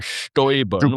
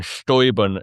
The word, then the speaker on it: Steuben: And I'm going to be fancy here and use the German pronunciation Stäuben, which is much more fun to say than any other pronunciation. Stäuben, Stäub.